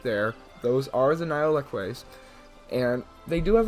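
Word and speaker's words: Nile lechwe: Next up, we have the Nile leque. And yes, that is how you pronounce it because I just searched it up.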